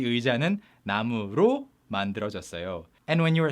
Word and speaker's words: 의: it still makes sense, you can say 의, and it's sometimes pronounced as 에 by many people, including myself. And if of doesn't have